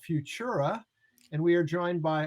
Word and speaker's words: Fvtura: spell it for people it's actually f v as in victor t isn't tom u r a so it's you call it futura but it's like spelled a little funky so you know where